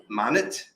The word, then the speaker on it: Monit: We also use Monit. I think that's how you pronounce it, because it's short for monitor, I'm guessing.